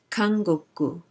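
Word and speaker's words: 韓国: But once again, the pronunciation of the same word in Japanese is yet different. It's Kangoku, Kangoku, Kangoku.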